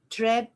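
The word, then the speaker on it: Trebbe: On my philosophy front, today's recommendation is the name of the lady is Treb Johnson. Treb is spelled Trebe Johnson.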